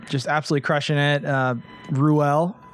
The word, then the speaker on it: Ruelle: absolutely crushing it uh rouel pronouncing it right yes that's correct correct how many different wrong pronunciations have you got oh there's so many i think rule is the most popular though rule so not rule that's like the mississippi pronunciation yeah for sure well